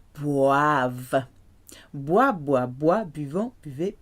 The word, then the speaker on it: boivent: You have a V sound at the end. Boivent.